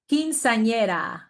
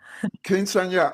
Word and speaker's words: Quinceañera: Quinceañera. That's like the fifth quinceañera. Quinceañera.